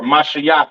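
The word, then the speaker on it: משיח: right is the Assyrian spelling for anointed or mashia in the Hebrew you have your maah sha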